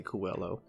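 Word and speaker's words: Coelho: book by pablo cuello c-o-e-l-h-o so i want to say coolo but i never actually pronounced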